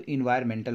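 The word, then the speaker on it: environmental: तो मेंटल सबको ऐसा समझ में आता है, मेंटल और इन्वायरन, तो इन्वायरमेंटल बोलते हैं इसको, एंड साइलेंट हो जाता है तो इन्वायरमेंटल।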